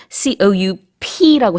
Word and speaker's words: coup: C-O-U-P라고 써요. 발음은 이제 coup라고 하지만 이게 바로 쿠데타입니다.